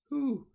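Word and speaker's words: הוא: can see it's pronounced who uh the aleph is quiescent it kind of disappears for the sake of pronunciation for they knew uh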